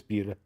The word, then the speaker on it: Buda: Yeah, it's Buda. Man, Texas has some weird pronunciation.